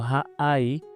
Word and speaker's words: Ha-Ai: Entonces estamos viendo esta elevación y Ha-Ai se pronuncia como Ha-Ai. Ha es un artículo definido. La, o sea, un artículo la, el, los.